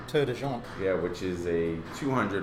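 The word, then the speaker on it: Tor des Géants: And now you're getting ready to do the, how do you say, Tour de Jean? Tour de Jean.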